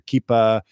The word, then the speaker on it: kippah: You had your prayer shawl, you had your kippah. Did I pronounce that correctly?